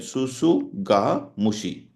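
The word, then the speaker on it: tsutsugamushi: Scrub typhus, this is usually, it is called Susuga mushi, Orientia rickettsia, but usually you say Orientia, Susu, T is silent, Susuga mushi, Susuga mushi, okay, Susu, SS is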